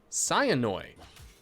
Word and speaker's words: Cyanoi: It's a bit weird, but he likes people to pronounce his IGN as Cyanoi. Thanks. No problem. Let me read this. Cyanoi. Interesting. Sort of a...